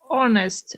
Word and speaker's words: honest: to try please uh so we should read honest without age right exactly probably you did